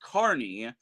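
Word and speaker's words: Kearney: Maybe Nebraska is actually pronounced Carney.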